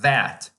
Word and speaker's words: that: Pois bem, é a palavra the, por exemplo, que é pronunciada desse jeito. The. Ou o demonstrativo, that.